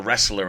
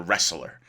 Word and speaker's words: wrestler: wrestle he was a wrestler in his youth a wrestler w-r-e-s-t-l-e-r actually a difficult word to spell wrestler why does it have a w the t is silent go figure but he